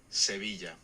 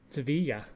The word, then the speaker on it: Sevilla: How's it pronounced in Spanish? Sevilla. Sevilla.